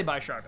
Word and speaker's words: Bisharp: use it so yeah i always thought his bisharp instead of b sharp i still say buy sharp actually even though i know i do know that's another one that i know better but i don't ever actually say it yeah and then there's